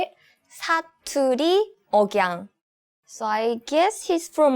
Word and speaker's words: 사투리 억양: 사투리 억양.